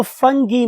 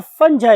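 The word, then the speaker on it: fungi: है हमारी फंजा की तो फंगी में और फंजा में दोनों वर्ड्स प्रोनाउंस होते हैं फंगी भी बहुस से बोलते हैं ब लोग उसे फंजा भी बोलते हैं सो इफ ी वांट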